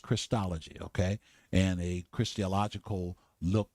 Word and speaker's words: Christology: I know some folk would say, "Well, you're saying Christology." No, it's pronounced Christology, okay?